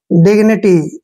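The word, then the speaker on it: dignity: डी ठीक है और जब भी जी से पहले आई आता है तो जी का उच्चारण हम ग करते हैं डिग क्या हो गया डिग एन आई को नी पढ़ना है नी और टी वाई को टी डिग्निटी ऐसे पढ़ना है इसको डिग्निटी का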